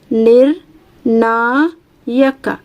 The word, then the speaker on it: ನಿರ್ಣಾಯಕ: ಎಡ ಬಲ ಎಡಬಲ 58 ನಿರ್ಣಾಯಕ ನೋಡಿ ನಿರ್ ನ ಣ ಫಸ್ಟ್ ರ ಉಚ್ಚಾರಣೆ ಮಾಡ್ತೀವಿ ನಿರ್ಣಾಯಕ ನಿರ್ಣಾಯಕ ಅರ್ಕಾವಳಿ ಫಸ್ಟ್ ಬರುತ್ತೆ ನೆಕ್ಸ್ಟ್ 59 ಸೊನ್ನೆ ಸಿ ಸೊನ್ನೆ